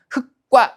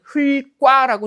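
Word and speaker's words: 흙과: 흑과 이렇게 발음을 하는 거라고요. 우리가 어떤 규정을 이해할 때 나와 있는 그대로 정확하게 이해를 해야 되는 거죠. 분명히 용원의 어간 말음 리을 기억이라고 나와 있는데 얘를 그냥 리을 기억은 무조건 기억 앞에서 리율로 발음한다라고 자기 멋대로 조작해서는 안 됩니다. 그죠? 그래서 요런 것들 조심하세요. 제대로 규정 분석하지 않으면 이런 것들 발음을 자꾸만 흘과라고 잘못하는 경우가 많단 말이죠.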